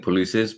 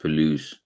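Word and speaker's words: Puelles: So I will pronounce his name one time properly. His name is Claudio Palouse. I was saying Polices, but no, it pronounced Palouse.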